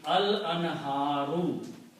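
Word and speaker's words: الأنهار: And if you put al before that, the streams, and when you put al, you pronounce one dhamma here, so it becomes al anharu.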